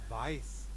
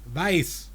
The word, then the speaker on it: weiß: Yeah, because if it's the one coming from wissen, I think we pronounce the EI shorter.